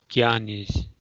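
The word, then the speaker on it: jñānīs: The J and the N with the tilde over the N is G. Jhanis.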